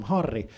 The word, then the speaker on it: Harri: Portuguese speakers uh because in Portuguese if a word starts with an H you don't pronounce the h if there's a double r in the middle of a word it turns into this weird throat sound like my name sounds more like sleep apnea than anything you should name